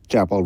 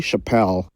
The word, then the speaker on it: Chappell: Lalu nama bintang pop relatif baru, Chappell Roan, yang nama pertamanya sering salah pelafalannya menjadi Chappelle.